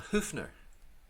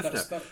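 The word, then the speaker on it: Höfner: A Hoofner.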